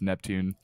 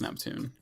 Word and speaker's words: NPTN: team as well with neptune or nptn i believe it's supposed to be pronounced neptune it is neptune i believe and yeah